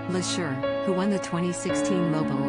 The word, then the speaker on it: Leshurr: tricky start to her time on the show la sure has bounced back and looks set to stay in the contest for a long time one thing that may not stop though is people mispronouncing her name lasher who won the 2016 mobile award winner for